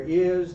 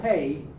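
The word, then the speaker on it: hay: I so really useful but it's I not hey not hi but I I you say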